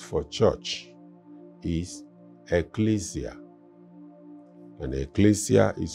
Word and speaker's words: ecclesia: And ecclesia is spelled E-double-K-L-E-S-I-A.